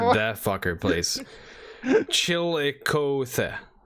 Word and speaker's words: Chillicothe: Yeah, I probably fucking Sure about butchered one? that fucker place. Chillicothe. Chillicothe. All right, that's how Chillicothe.